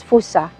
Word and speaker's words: Fuchsia: Fuchsia. Fuchsia. Okay. But actually, boss said it's supposed to be pronounced as Fusa. Okay. Because it means wind in Japanese.